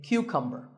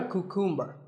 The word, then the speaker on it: cucumber: now this is a cucumber it's not a cuckoo mer think of it like saying the letter Q and then cumber like number